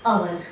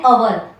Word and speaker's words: hour: An hour, an honor, an honest. આ બધામાં H silent છે એટલે આર્ટિકલ N યુઝ થાય.